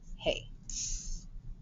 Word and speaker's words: hay: eat hay a a this one is going to be spelled with this a y spelling powder a i'm going to underline the a y to show that it's one sound y is silent a is long hey number five stay